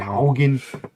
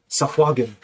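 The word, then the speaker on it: sahuagin: The Haugen. The Helgen. It's Sahwagen is actually how you pronounce it.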